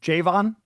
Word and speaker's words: Javon: Javon is how you pronounce it?